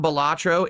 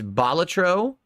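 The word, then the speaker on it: Balatro: for it's not so it's not batro it's batro the first syllable because batro was a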